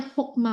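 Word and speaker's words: חכמה: berarti dia berperan sebagai kamets hatuf yang penulisan dan pelafalannya sebagai huruf O. Jadi bacanya hokma, bukan. Kalau dia bukan kamets hatuf, Hakma.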